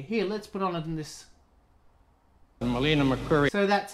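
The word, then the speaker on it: Melina Mercouri: Melina McCurry. So that's how you pronounce her name.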